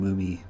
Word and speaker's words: Mumei: be uh I'm sorry I keep saying mummy but I promise I'm not like mispronouncing her name it's m-o-o-m-i-e it's a nickname but yeah she has